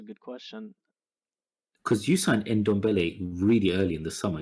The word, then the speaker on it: Ndombele: Excuse think- me, I would just like to interrupt and say his name is Endamballer.